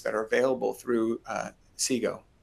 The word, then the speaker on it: CGOE: are available through uh SIGO, which is the how we pronounce the acronym.